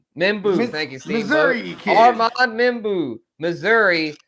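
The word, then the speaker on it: Membou: Membu, thank you.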